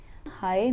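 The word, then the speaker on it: high: हाई इन द स्काई हाई में जी silent है turn the switch on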